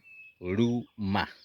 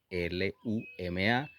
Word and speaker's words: luma: Es una mezcla entre la L y la R y suena ruma.